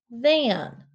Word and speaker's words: than: Than is spelled T-H-A-N. We have the hard T-H sound, which is a digraph at the beginning, so make sure it's underlined.